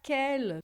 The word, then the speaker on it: quelle: E você vai ver que a pronúncia não muda nada, é a mesma, tá?